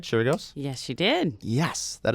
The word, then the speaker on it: Chirigos: Did I pronounce it right? Chirigos?